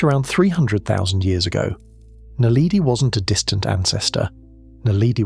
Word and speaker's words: naledi: Lee Berger's team named it Homo naledi, pronounced naledi.